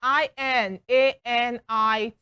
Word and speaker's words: inanities: Cambridge Dictionary, and that's Inanities. Inanities, inanities. And okay, so we have it here. It's a noun, inanity. Why is everything almost always on the second syllable all through?